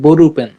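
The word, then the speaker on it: ボールペン: Ball peen কে Japan উচ্চারণ করে বরুপেন।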